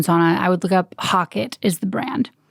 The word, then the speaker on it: HOCATT: Well, real quick, if you're looking for the ozone sauna, I would look up Hockett is the brand. How do you spell that? HOCATT is Hockett.